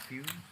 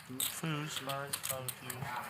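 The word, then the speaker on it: Fuhs: Last name, I think it's pronounced Fuse. Fuse.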